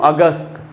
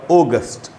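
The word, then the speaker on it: August: की आप अच्छे से समझ सके इसलिए इसको अगस्त ये गलत उच्चारण है इसका सही उच्चारण होगा ओगास्ट हमारा पॉइंट क्या है यहां पर सीखने के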